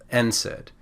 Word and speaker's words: NSAID: the d you get nsaid so it's pronounced for the first letter n and then we just say the word said if you really want